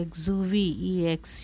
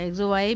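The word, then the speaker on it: exuviae: इसका जो प्रोनाउंसिएशन है वो है एक्जुवी, एक्जुवी या एक्जुवाई भी कह सकते हैं, पर एक्जुवी इज़ करेक्ट प्रोनाउंसिएशन।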